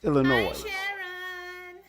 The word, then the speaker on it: Illinois: Illinois Frank you know when I hear somebody says Illinois and then I hear uh Illinois which one is you know the correct pronunciation as long as you say it either way people will understand what it is but it's Illinois.